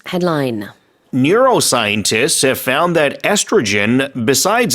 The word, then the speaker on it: estrogen: 한국에서는 에스트로겐 이렇게 하는데 estrogen. 영어는 맞아. 에스트로겐. 콜라겐도 마찬가지예요. 그 영어로는 콜라겐 안 하고 Collagen. 콜라겐 이렇게 하죠. 그래서 뒤에 gen 이렇게 발음이 좀 달라진다는 거.